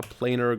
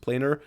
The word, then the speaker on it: planar: to do here um let me just Google how it's pronounced planer planar okay wasn't that wrong um